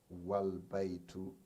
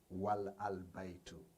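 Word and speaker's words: والبيت: The a is dropped, and the phrase is pronounced wal baitu, not wal al baitu.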